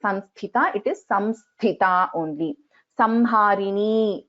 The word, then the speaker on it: Samharini: Samharini only, not Sanharini. It is Samharini only.